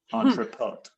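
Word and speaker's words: entrepôt: And it was the Entropo. Entropo is E N T R E P O. Entropo. O T. Put a T at the end. It's French. Entropot or something like that.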